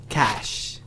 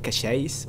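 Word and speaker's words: cache: in this cashes cashes cash cash so some pouncer told me that uh apparently it's pronounced cash instead of cashes or anything else so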